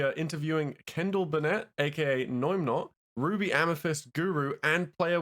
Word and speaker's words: Noimnot: And was I correct in saying that Noimnot is not how you say your name?